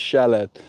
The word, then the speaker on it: shallot: It's pronounced shallot.